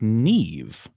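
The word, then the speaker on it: Niamh: Uh but it's it's pronounced nev, right? And and as you just told me, that mh turns into sort of a v sound.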